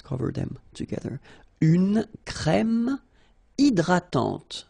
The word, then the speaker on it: hydratante: Une crème hydratante. So remember, H is not existing, and then this Y is pronounced like I. Hydratante. Okay, don't insist on the final E, and this is nasal. Hydratante.